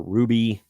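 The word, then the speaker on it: RWBY: this one's from IGN uh R WBY or Ruby however you want to pronounce it uh finds a new home in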